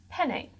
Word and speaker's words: penne: done having a go it's pronounced penny it is a pasta ok penne alright well